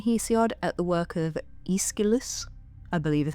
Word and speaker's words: Aeschylus: If you look a little later than Hesiod at the work of Aeschylus, I believe is how it's pronounced, the Greek playwright often considered the father